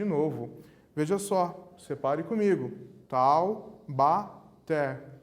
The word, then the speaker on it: Taubaté: Taubaté, a última sílaba tônica, até. Última sílaba tônica também, oxítona.